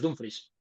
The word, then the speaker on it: Dumfries: de Forbo, Lo he le escuchado, lo he pronuncias. escuchado. Lo he Vale, vale. escuchado, es Dumfries.